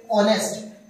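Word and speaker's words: honest: मैन ये क्या है इसको ह हमारा साइलेंट होता है जिसको हम पढ़ते हैं ऑनेस्ट है ना तो olest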